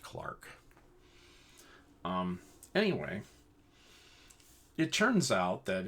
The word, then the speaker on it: Clerk: His middle name is spelled as if it were Clerk, but it's pronounced Clark.